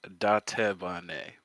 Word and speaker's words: Dattebane: so it's technically Dattebane, but honestly, Databane. close enough.